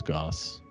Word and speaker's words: Gosse: It looks like goose, but it's Goss.